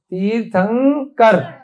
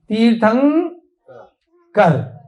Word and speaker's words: तीर्थंकर: जब भी आधे न का उच्चारण, तीर्थ के बाद क्या है, आधा न, क्या है, तीर्थ के बाद आधा न, जब आधे न का उच्चारण आएगा और उसके बाद जो अक्षर आएगा, क्या आया, क, तीर्थंग क, तीर्थंग, ध्यान देना है सब बच्चे, खेलो मत अभी, बहुत ध्यान दो।